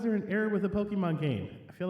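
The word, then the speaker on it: Pokémon: Actually, originally it's pronounced Pokemon. Well, I'm mispronouncing it, but in America, in the English translations, they added to make it sound like Pokey, but it's actually like Pokemon, like pocket monsters, because that's how you technically pronounce it.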